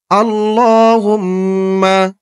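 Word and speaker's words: اللهم: করবেন তেমন টান দিবেন আল্লাহুম্মা আল্লাহ আল্লাহ এখানে কিন্তু টান হবে খারা জবর হবে ছাপায় হয়তো ভুল হয়েছে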